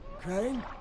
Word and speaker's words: Crane: no my name's crane crane crane rhymes with train and brain and sane and grain and rain and plane and the other kind of plane and and can i